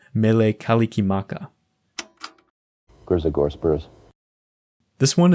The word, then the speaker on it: Mele Kalikimaka: recorded by Bing Crosby since the Hawaiian language doesn't use the same sounds as English the pronunciation had to be approximated in particular the r and s sounds had to be adjusted so Merry Christmas became Mele Kalikimaka Grizzly Gore Spurs this